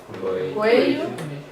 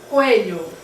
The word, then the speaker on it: Coelho: N e em Portugal escrevem com NH, mas pronuncia-se igual. E este animal, coelho, conexo não.